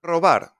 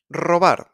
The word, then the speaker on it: robar: Robar. Stealing. Robar is at the beginning, so we roll it. Robar.